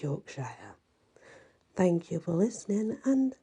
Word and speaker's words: Yorkshire: Yorkshire Yorkshire actually and let's say it is pronounced Yorkshire but some people do just say York sure but it's Yorkshire thank you for listening and many blessings